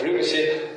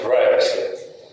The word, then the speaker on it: privacy: И вторая вещь, как перевести на русский язык английское слово, которое англичане произносят как privacy, а американцы privacy.